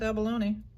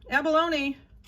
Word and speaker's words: abalone: But then I just went on to Google, typed in, how do you pronounce abalone? Typed it in, A-B-L-A-L-O-N-E. Yeah, abalone.